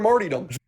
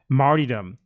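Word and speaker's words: martyrdom: for sacrifice longing for marom okay longing for Mar marom I've never heard anyone pronounce that word that way in my life martydom what he wants to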